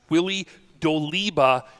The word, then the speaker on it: Willie Doliba: They're going to host Silver Creek Forestville, and then while you're there, so early on we pronounced the name wrong, and I wanted to make sure we throw it out. It's Willie Doliba is the quarterback for Silver Creek Forestville.